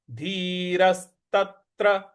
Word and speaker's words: धीरस्तत्र: र के बाद जो स है उस पर हमको बल लगाना है। धीरस्तत्र, धीरस्तत्र, तत्र, त के